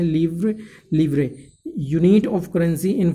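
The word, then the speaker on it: livre: Students आप side में देख सकते हैं लिवरे लिखा हुआ है, इसका प्रोनाउंसिएशन हम क्या करेंगे, लिवरे। प्रोनाउंसिएशन क्या करेंगे स्टूडेंट्स, हम इसका प्रोनाउंसिएशन करेंगे लिवरे, लिवरे, व्रे, इसका प्रोनाउंस।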